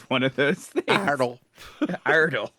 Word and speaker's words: Iredell: Iredell. Like it's Idle. just that's just how you pronounce it.